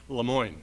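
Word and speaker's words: Le Moyne: scouts of america and proper pronunciation limon lemoyne lemoyne college take it away joe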